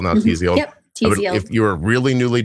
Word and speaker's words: Tzield: Yep, Tzield.